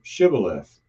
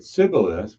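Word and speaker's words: Shibboleth: If he replied, "No," it said, "All right, say Shibth." If he said Cibilith, because he could not pronounce the word correctly, they seized him and kept killed him at the forge of the Jordan.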